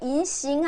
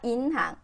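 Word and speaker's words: 银行: 이때 인싱 하면 안 되고요. 인항. 그죠? 은자가 줄을 줄을 이러고 있고 가면 줄도서야 되고 엄마가 줄기차게 다녀요. 그래서 인항으로 써요. 은행 상어도 기분 좋죠. 이성으로 웃으면서 인항. 음. 그래서 항이에요.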